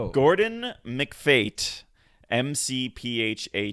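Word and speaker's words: McPhate: Gordon McFate.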